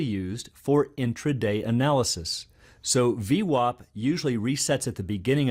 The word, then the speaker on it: VWAP: the volume weighted average price or as it's pronounced V WAP for short well as the name implies it